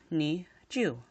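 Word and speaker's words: 二十: this introduces rule 0 roll 0 dictates that if a number is present if a 0 is present in a number it should be ignored completely thus we will have the pronunciation of nee Jew since there is a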